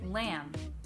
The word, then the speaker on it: lamb: this though is that there are some words where the B does not change the vowel sound you find this in the words dumb limb and lamb again the reason that